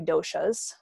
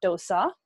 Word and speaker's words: dosha: are called the three doshas and for those who are interested in the pronunciation it's dosha not dosa so dosa is an indian fan cake this is not a